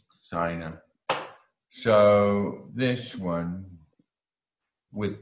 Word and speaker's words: sein: These all rhyme with ein. Mein, dein, sein rhymes with ein.